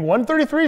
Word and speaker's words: I.33: "I".33 ¿Te refieres al "1".33, Sean? No lo sé, ¿Cómo se dice? Se pronuncia "1"33...